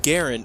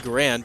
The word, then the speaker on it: Garand: we have the M1 Garin battle rifle made out of Lego so the M1 Garen or the M1 grand depending on how you want to pronounce it was the issued service